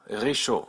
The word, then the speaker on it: réchaud: This is why you don't hear any P's, D's, or T's in loup, réchaud, or gant.